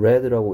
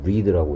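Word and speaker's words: read: 자 그 다음에 얘를 레드라고 읽어야 되는 이유는이 속에 두가 아니고 d드가 들어있기 때문이고 그래서이 남자아이가 그러한 사실을 과학 잡지에서 읽었던 건 언제 했던 일이다 과거에 했던 일이니까 리드라고 읽으면 안 되고 레드라고이 a의 발음이 애 발음 나고 있죠 그 다음에 과학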